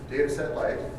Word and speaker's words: Datasette: Number one is the name, and so spelling is dataset light, DATASETTE, light as in salad dressing, LITE, so dataset light if you're going to pronounce all the letters.